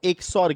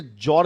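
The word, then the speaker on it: XOR: ঠিক আছে, কেউ কোনোদিন এটাকে জর গেট বলে উচ্চারণ করবে না। জর গেট কি গেট না, জর গেট না, এ থরের ভাই জ্বর নয়। ঠিক আছে, এক্স আর অরের মাঝখানে একটা ড্যাশ দেওয়া হয়েছে এই কারণে যে তুমি সেটাকে একসাথে উচ্চারণ না করো। ঠিক আছে, তাই এটা জর নয়, এটা এক্স অর গেট।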